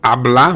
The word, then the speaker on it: habla: have other words like talk which is habla which starts with an h and again you don't hear the h here also take note that